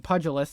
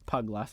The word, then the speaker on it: pugilist: Again, pugilist, not puglust.